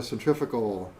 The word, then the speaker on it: centrifugal: Centrifugal. Or centrifugal. Yeah. Yeah. That's the right way to say it.